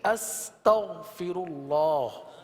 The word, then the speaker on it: استغفر اللہ: کی ادائیگی کی تھی استغفر اللہ، جس میں غین کی ادائیگی کو درست کیا تھا. اس کو دوبارہ پڑھ لیجئے. استغفر اللہ استغفر اللہ استغفر اللہ.